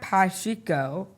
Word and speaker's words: Pacheco: Today, our guest is Patrio. Awesome job. Did I pronounce that right?